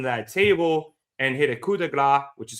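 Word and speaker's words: coup de grâce: up Dom on that table and hit a coup de grace, which is how you pronounce it, Michael Cole, through the table and pinned Dom for the win.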